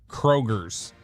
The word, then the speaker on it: Kroger: I was like there's no S on it. It's Kroger.